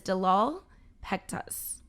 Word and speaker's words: Delal Pektas: miss today's guest is dalal pectus i said it right you said it all